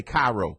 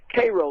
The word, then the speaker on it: Cairo: Koo some people say CYO how did the Natives pronounce it kro like the syrup because they used to make the syrup there didn't they that's correct